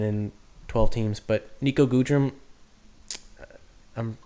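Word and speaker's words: Goodrum: is somewhat relevant in 12 teams but Nico gudren I'm said how you pronounce it okay it's pretty yeah good room he's eligible at pretty much every single position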